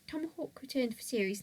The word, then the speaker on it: TMHWK: Its name was now spelled Tomahawk without the vowels, but pronounced the same. So it was spelled TMHWK. It was also purple. After not being selected for Series 8, Tomahawk returned for Series 9,